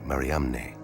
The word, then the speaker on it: Mariamne: But what about the spelling of the first name in the inscription, the unique Mariamne, never found before or since on any other ossuary?